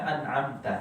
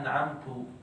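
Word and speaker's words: أَنْعَمْتَ: Misal an'amta, harusnya an'amta, anta, ta. Tapi bacanya an'amtu. Maknanya beda.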